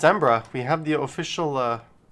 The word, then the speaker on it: Edinburgh: subscribe to our channel embrace our blog at europe all right there we go i'm gonna say it like a local it's embra embra no it's ambra we have the official